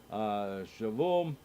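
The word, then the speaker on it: שָׁבוּ: past plural of Hayam has the accent on the last syllable, e.g. Hayu of verse 5, so too does Shavu of our verse, where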